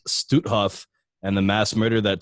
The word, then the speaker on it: Stutthof: him this, that the concentration camp, and it's pronounced Stutthof, and the mass murder that took place inside was only able to take place with your help.